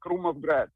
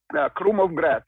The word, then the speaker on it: Krumovgrad: Kent, if you like Basma, also from leaf only, try Krumovgrad. It's a Bulgarian Oriental. It has flavor very similar to Basma, but with a less spice. Tell me, how would I spell that? Krumovgrad with K, K-R-U, Krumov.